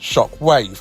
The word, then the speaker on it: Shock.wav: shark is called Shockwave, or Shock.wav, but pronounced Shockwave, which I think is